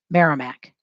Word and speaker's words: Merrimack: that as well and it's spelled mayor rye mac using two letter used only after a single vowel which says merrimack go ahead and label